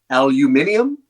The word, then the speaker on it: aluminium: Is it aluminum, oxygen, or silicon? Aluminium, as the British say.